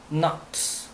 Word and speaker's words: naught: 그다음에 fair enough 등등 이야기 했었는데 오늘은 there was all for not 발음 있죠. not n ght인데 not이라고 말합니다.